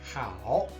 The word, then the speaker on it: 好: When it is pronounced at the third tone, hao, it is used as an adjective, which means good, well, or nice. When it is pronounced as